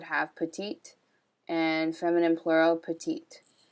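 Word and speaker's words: petites: petite and feminine plural petite notice how in both cases when we add an s we don't hear the s so there's a couple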